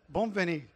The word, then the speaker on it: Bonvanie: Bonvanie. Bonvanie.